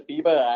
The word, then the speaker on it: Biba: is Biba yeah so it's a Biba actually it's the pronunciation of how the Japanese Way of saying beaver because I go to